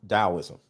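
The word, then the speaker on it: Taoism: I studied DSM taism starts with a T but it's PR pronounced dosm so overall what I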